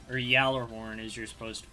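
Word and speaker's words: Gjallarhorn: I also play with gallor or Yer horn as you're supposed to pronounce it there's a y it's not g it's pronounced Yer horn was I used it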